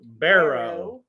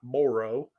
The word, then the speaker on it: barrow: word in yellow and that is pronounced Barrow not Moro or borrow Miss Brenda you just